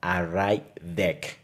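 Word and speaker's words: ArrayDeque: datos que se llama raid de que así se pronuncia es una estructura de datos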